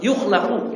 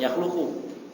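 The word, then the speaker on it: يُخْلَقُ: Laisa hunaka insanun yukhlaqu ya gitu ya. Bukan yakhluqu.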